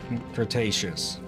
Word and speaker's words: Cretaceous: then come up from now is the Cretaceous Cretaceous whoa okay that's probably the first time here you pronounce it correct also the problem you can